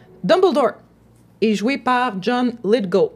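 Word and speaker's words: Lithgow: Dumblore est joué par John Lidgo. Donc c'est vraiment comme ça qu'on le prononce. C'est pas LG, c'est GW à la fin mais c'est Lit Go. Let go.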